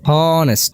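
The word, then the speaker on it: honest: হচ্ছে তাই তার পূর্বে কি বসছে এ বসছে হনেস্ট হন এস্ট হন এ একটা এ এর মত উচ্চারণ হচ্ছে হনেস্ট হনেস্ট এস্ট অর্থাৎ এ বা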